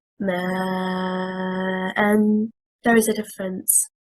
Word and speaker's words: ما: Also a word, ما, and stressing on the first حركة, حركة الميم, it means water and is one word. If we stress on the second حركة, حركة الهمزة, and we say ما, and it separated al-hamza from al-mim.